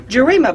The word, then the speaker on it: Gerima: Yes, Gerima, I want to say it properly.